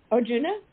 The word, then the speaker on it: Arjuna: Juna or I can't remember how do you pronounce his name um Arjuna he was a ajuna yes oh I said